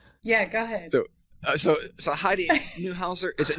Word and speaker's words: Neuhauser: So Heidi Neuhauser, is it Neuhauser? Is that the correct way you want to pronounce it?